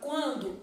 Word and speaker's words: quando: gente tá na palavra quando eu falo u ó qu qu tá vendo eu enruga esse U Então nesse caso aqui ó o u é pronunciado qu o n já não é quando então na palavra quando eu tenho cinco fonemas e seis letras sendo que a letra n é indicativo de nazal e não é pronunciada bom na palavra guerra